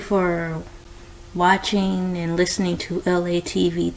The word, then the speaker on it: Elay: This is me, Elay, pronounced like LA, like the city.